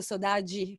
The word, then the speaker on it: saudades: Si chiama 99 Saudades. Che è chiaro, che vuol dire, io lo so. Allora, dovrei pronunciarlo piuttosto Sodagi, perché è portoghese.